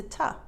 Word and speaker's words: to: you study the pronunciation t-o is a homophone of the number two and of t-o-o two two two but in real life t-o is often reduced to ta so this will help